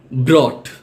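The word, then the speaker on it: brought: যেগুলোকে সাইলেন্ট শব্দ হিসেবে বিবেচনা করা হয়, যেগুলোতে জিএইচ উচ্চারিত হয় না। এক্সাম্পল, বাও, বাও অর্থ গাছের ডাল। ব্রট, ব্রট অর্থ এনেছিল।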